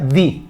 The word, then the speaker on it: the: vocal al artículo pues se pronuncia di Ok di Hour Ok O sea que